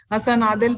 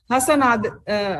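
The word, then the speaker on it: Hasna Adil: हसन आदिल, transcribe DNA from my. हसन आदिल नहीं, हसना आदिल है.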